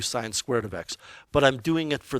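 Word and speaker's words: sin²x: what does this mean first of all it's pronounced sine squared of x what it means is sine of x quantity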